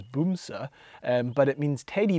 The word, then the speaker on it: Bamse: vehicles ever it's called bamsie um in case anyone wondered b-a-m-s-e um actually i think the norwegian pronunciation is boom sa um but it means